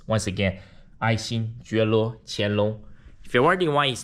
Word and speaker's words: 爱新觉罗乾隆: His name is 爱新觉罗乾隆. Yes, his name has 6 syllables. Once again, 爱新觉罗乾隆.